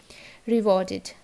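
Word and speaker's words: rewarded: জায়গায় আইডি হয়ে যাবে, ইডি এর জায়গায় আইডি, রিওয়ার্ডেড। এটা নিডেড, ইডি তার আগে ডি আছে তো উচ্চারণ কী হবে, ইডির জায়গায় আইডি, সো ইট is needed.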